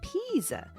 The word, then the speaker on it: Pisa: It's not pizza. It's pizza. The name of a town. It sounds like pizza, but it's spelled P I S A.